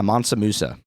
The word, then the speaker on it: Mansa Musa: Well, with that, um, okay, so uh, Matsamusa, is am I pronouncing this correctly? Yeah, Monsamusa.